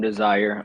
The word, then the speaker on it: D3Sire: man as a fashion designer okay uh I'm desire uh it's spelled D3 s-i-r-e the three stands for the